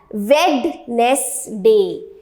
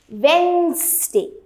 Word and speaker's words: Wednesday: students pronounce it as Wednesday, but it is not Wednesday. आपको इसको syllable में तोड़ना है. ये D को हमें यहाँ से काट देना है और D की जगह जो इसका करंट प्रोनाउंसिएशन आएगा वो है वेंसडे.